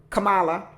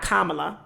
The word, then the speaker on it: Kamala: name ain't pronounced right it should be a camela or Kamala not kamla we took a card